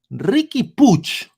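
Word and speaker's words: Riqui Puig: show we have exclusiva exclusiva exclusive right uh Ricky Pooch that's how you pronounce his name Ricky pooch Ricky pooch he's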